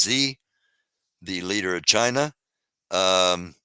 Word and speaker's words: Xi: World War II uh X is Xi which is pronounced Z the leader of China